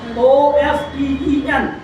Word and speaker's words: often: regularly, or often, or O-F-T-E-N. इसकी दो pronunciations है, often भी और often भी. Both are used interchangeably and both are valid. One is UK and one is US pronunciation.